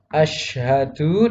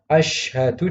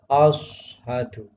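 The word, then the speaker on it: أشهد: Misalnya yang seharusnya asyhadu dibaca ashadu. Ashadu. Nah, ini juga salah.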